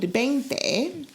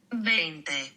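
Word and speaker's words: veinte: In Spanish, you don't pronounce the V, you pronounce it as a B. 20.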